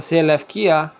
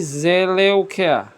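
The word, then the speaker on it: Σελεύκεια: Kalau zaman dulu nyebutnya bukan Seleukia teman-teman, tapi Seleukia. Oke. Jadi ada ini huruf U, upsilon. Upsilon ini zaman dulu ya dibacanya U. Ya. Kemudian ini epsilon iota, kalian perhatikan. Epsilon iota. Epsilon iota ini pada zaman dulu itu dibaca E biasa ya.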